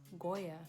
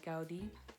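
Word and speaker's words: Gaudí: another famous architectural building created by Goya no non Koya dowdy created by Gaudi who created numerous numerous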